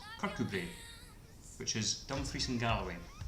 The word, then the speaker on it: Kirkcudbright: Sort of phonetically pronounced Kirkcudbright. However, in Scottish it's pronounced Kirkcudbright, which is Dumfries and Galloway.